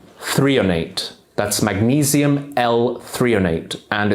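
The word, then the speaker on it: threonate: magnesium I really recommend is called magnesium L 3on8 that's magnesium l308 and it's spelled t-h-r-e-o-n-a-t-e magnesium 3 and 8 can actually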